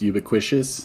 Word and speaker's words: ubiquitous: no ious means ever present um actually it's pronounced ubiquitous thank you there is no no way that's